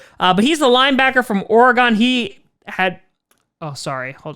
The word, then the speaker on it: Oregon: A lot of people were upset with how I pronounced Oregon. That's how, back in my day in New York, you pronounce the Oregon Trail. Yeah, that famous PC game. Oregon is maybe how some other people pronounce it, but it's Oregon in New York, so deal with it.